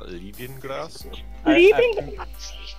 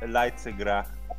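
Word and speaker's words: Leidsegracht: Is that how you pronounce that? Lindengrast? I think it's Leitzegracht.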